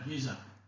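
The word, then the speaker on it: geza: Giza.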